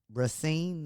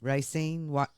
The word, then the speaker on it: Racine: Trump was in Racine. Is that how you say it? Racine, Wisconsin yesterday for another one of his massive rallies that the mainstream media doesn't want you to talk about.